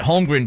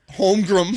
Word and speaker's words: Holmgren: on nba tv chet home room i'm like he's the second pick in the draft anyway it's an n not an m i just wanted to